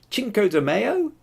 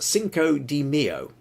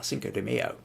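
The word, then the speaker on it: Cinco de Mayo: and uh oh wait Robert says uh it's pronounced Cinco Deo ah Cinco Deo right okay well a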